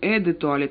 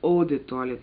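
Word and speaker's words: eau de toilette: у нас тоже детут вернее не Эд туалет а правильно оде туалет по-французски О - это вода а пишется как эу а вот в общем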